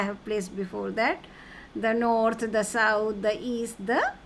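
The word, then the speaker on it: nord: in French here I have given you L nor don't pronounce the okay don't pronounce the Le cardino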